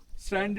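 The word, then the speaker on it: Tso: Ladakhi is called lake T एस ओ T silent सो means lake that's why Pangong सो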